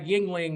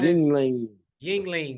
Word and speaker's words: Yuengling: It's not spelled Y-I. It's Yuengling. But this shit is good.